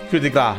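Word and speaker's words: coup de grâce: It's French. Coup de grace is the correct pronunciation of it. A lot of silent letters in that.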